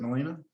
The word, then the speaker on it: Melina: Melina, is it Melina? Am I saying that right? Yeah, you said it right.